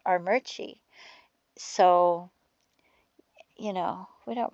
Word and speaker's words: Armuchee: And then there's a city called Armuchee, and it's spelled Armuchee, but it's pronounced Armuchee.